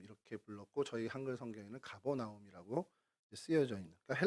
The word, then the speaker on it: 가버나움: 불렀고 저희 한글 성경에는 가버나움이라고 쓰여져 있는 그러니까 헬라어로 음독한 이름입니다.